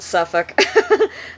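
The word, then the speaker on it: Suffolk: in Hampton Roads Virginia uh Williamsburg is gorgeous suffk uh that's suu FF o l k we pronounce it suffk just like nauk even though it's spelled n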